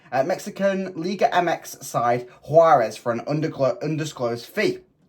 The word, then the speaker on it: Juárez: join Liga MX side huarez I believe that's how you pronounce it on an undisclosed fee